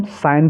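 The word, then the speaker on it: sign: इसको फॉरेन ऐसे ही एस आई जी एन को हम साइन पढ़ेंगे क्या पढ़ेंगे साइन कुछ बच्चे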